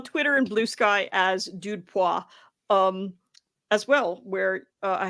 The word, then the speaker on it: dudepoints: You can find me at dudepoints dot fun, or dudepois as it's correctly pronounced, dot fun.